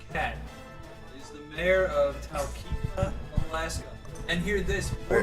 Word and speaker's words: Talkeetna: Talkeetna. Talkeetna. The first Motherfucker.